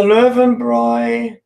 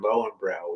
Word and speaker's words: Löwenbräu: It's a Löwenbräu. How do you say that in German? Lowenbrow, we call it.